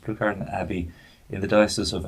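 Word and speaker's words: Pluscarden: benedictine community at and i'm never quite sure how to pronounce that blue card and i think it's pronounced but literally plus cardin it's blue card and it's pronounced blue garden abbey in the diocese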